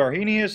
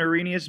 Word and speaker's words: Arrhenius: And so the Arrhenius or the Arrhenius definition, I think the H is silent, okay, is the most simplistic of all definitions.